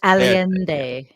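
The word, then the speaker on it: Allende: immediately crashed the economy you're mispronouncing it was alende Al alende okay that heing that on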